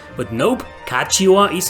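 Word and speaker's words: Catiua: I always thought the U was silent and it was pronounced Katia, but nope, Kachiwa is how the English voice actors say her name in this remaster.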